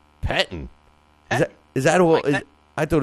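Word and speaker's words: Pettine: But speaking of the Jets, don't you dare, Mike Petine, or however you say Petitine, Petitine. How do you say it? Pettin.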